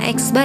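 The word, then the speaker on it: x̄: Nah, ini dibacanya X bar ya.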